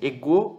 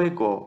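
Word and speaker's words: ἐγώ: Bem, tanto faz o modo como você pronuncia, ego ou ego. O importante é que a sílaba tônica está aqui, tá?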